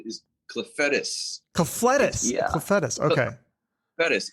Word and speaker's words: Clufetos: So Tommy, is it Clufetos?